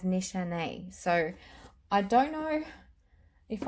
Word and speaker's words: Nishane: Now, I'm saying it Nichane. I think that's how you pronounce it, because I was actually told by someone that was Turkish that it was pronounced as Nichane.